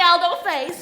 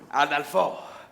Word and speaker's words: Adolfo: Take me, Aldo Face. No. Not Adolface. Adolfo. You must say it correctly.